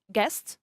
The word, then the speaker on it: guest: We also have vowels which can be considered as silent letters, like the vowel U in the word guest, okay, and the vowel E in the word plate or in the verb wipe.